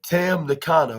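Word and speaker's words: Tam Nakano: by Willow Nightingale and T and Tano T Tam Nano yeah that's what that's how it's pronounced oh yeah I thought that was the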